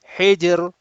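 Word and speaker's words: حجر: of people, they will, if the Ra appears at the, especially at the end, which is Sakin, they do not pronounce the Ra audibly. Hijr, Sihr. You are making the Ra Mahmusa, whereas Ra is not Mahmusa, it's Majhura. You have to have voice.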